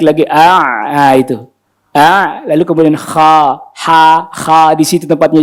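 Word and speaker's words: خ: Lalu kemudian kha di situ tempatnya, jadi bacanya bukan kho, ini tetap mangap kha. Kedengerannya a tapi ada o-nya karena pangkal lidahnya naik. Tuh kan? Kha bukan kho. Ini bentuk mulutnya ini kan kho, salah. Kha.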